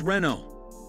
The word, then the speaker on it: Renault: Therefore, the correct pronunciation is Ren-oh.